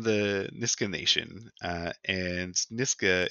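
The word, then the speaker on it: Nisga'a: niska nation uh and niska is spelled n-i-s-g-a apostrophe a and the book's title is n-i-s-h-g-a um with a pronunciation uh nishka and and the one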